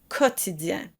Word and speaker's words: quotidien: In both cases, be sure to pronounce the Q U as a K sound, chaque and quotidien.